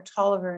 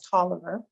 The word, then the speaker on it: Toliver: profile of Robert Oliver I know it looks like it's pronounced differently but broader Toliver insisted that his name be pronounced as Toliver he gave an rcui